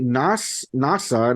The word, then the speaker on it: Nasa: It says on a snowy winter night, NASA, and it's spelled like NASA, like NASA, Nasa Yuzaki, a boy